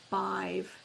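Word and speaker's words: Badb: I heard the word bive which spells B- A DB but it's pronounced B I V.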